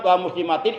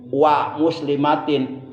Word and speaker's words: wa muslimatin: Kadang-kadang ada orang menambahkan dengan kalimat wal muslimatin, itu pun salah bacanya. Dia menggunakan alif lam itu salah. Enggak usah pakai alif lam. Jadi ala kulli muslimin wa muslimatin.